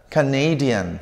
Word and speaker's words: Canadian: Fíjense cómo cambia la pronunciación. Canada. Canadian. ¿Sí?